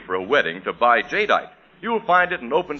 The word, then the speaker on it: Jadeite: Anchor Hawkings amazing new kind of dinner wear, Jadeite. Now, it's spelled J A D E I T E.